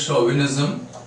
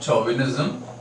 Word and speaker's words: chauvinism: this is pronounced as chauvinism not chauvinism the reason is this is the word of French origin so chauvinism actually was